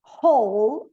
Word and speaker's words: whole: whole, Whole. O E final também não pronuncia.